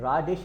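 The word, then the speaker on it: radish: इसके बाद ये आपके सामने, आपको पता है कि ये मूली है और मूली को रेडिश रेडिश, ठीक है, राडिश नहीं बोलना है इसको बोलते हैं रेडिश।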